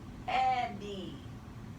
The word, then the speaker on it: Eddie: Accent the first syllable, and the Y is going to sound like an E. So you're going to make an E and a macron. The word is Eddie.